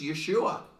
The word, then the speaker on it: Yeshua: word but it's it you can even hear the sound it's Yeshua that's how you say it so Look What the